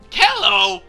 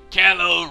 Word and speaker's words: callow: Callow? What the hell's that? Hey, I don't know that word, but it sounds like an insult to me. Callow rhymes with marshmallow.